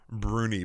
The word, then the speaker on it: brownie: much a Scottish thing they pronounce it closer to Bruni but I'm not gonna do that because it would sound silly coming from me yeah you need the